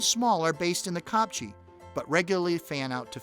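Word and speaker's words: kopje: Another full-time resident of the Copchi that's spelled K O P J E is the clipbringer, one of the small analopee.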